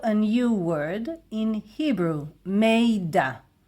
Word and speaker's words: מידע: This is how we pronounce it. Informacja. Informacja. And there is also a new word in Hebrew. Miדע. Miדע.